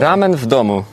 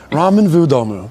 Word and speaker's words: ramen w domu: How do you pronounce this, by the way? Ramen w domu. V. Ramen w domu. Great. I was like, ramen W domu? All right. Ramen vu domu.